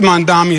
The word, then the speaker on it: Mamdani: And furthermore, the name is Mamdani. Mamdani. You should learn how to say it because we got to get it right.